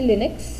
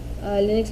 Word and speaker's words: Linux: फिर एक है Linux Linux भी बोलते हैं, Linux भी बोलते हैं लोग। तो व्हाटएवर यू वांट प्रोनाउंस।